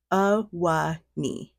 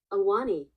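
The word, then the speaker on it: Ahwahnee: So I think it's pronounced as Awani. Oh, oops, hold on. Block. That's not what I wanted. I did that on accident. Awani.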